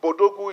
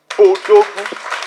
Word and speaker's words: Bodogu: So I don't want us to start pronouncing it as an English acronym. It is African, it is Nigeria, it is Bodogu. So when you pronounce it, don't call it B Odogu.